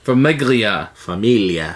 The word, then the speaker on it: Famiglia: Familia. Nope, I think it's pronounced Famiglia. But if you're Italian, you say familia. Which I'm not.